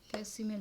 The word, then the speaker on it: facsimile: Correctly spelled word में फैक्सिमल, फैक्सिमल की spelling होती है FACSIMILE, ये फैक्सिमल होते हैं, तो हम सी साइलेंट हो जाते हैं तो फैक्सिमल बोल देते हैं, फैक्सिमल, आप वैसे ही करके याद कर लो फैक्सिमल, ठीक है।